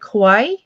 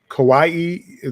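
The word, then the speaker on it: Kauai: and k a u AI how do you pronounce that the Kawai Kawaii that's a k a i so Beach Maui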